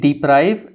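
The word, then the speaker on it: deprive: बट यहाँ पे भी एक इंटरेस्टिंग चेंज हो रहा है प्रोनाउंसिएशन में। सो यू से डिप्राइव एंड आप यहाँ पे बोलते हो डेप्रीवेशन। सो डी एंड डे का डिफरेंस आ रहा है एंड इस तरह का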